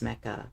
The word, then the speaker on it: Mecha: I don't need to see it when I'm also playing Mech Break. It's Mecha. I'm gaming. You're not pronouncing the A. It's Mecha.